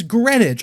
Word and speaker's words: Greenwich: the way it's it's spelled in america i pronounced it in america i'm sorry it's it's greenwich also i'm also really mad about this because